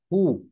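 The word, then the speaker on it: who: একই নিয়মের নিচেই রয়েছে হু ডব্লিউ এইচ ও এখানে আমরা ডব্লিউ বলবো না এইচ এবং ও থেকে শুরু করবো কি থেকে শুরু করবো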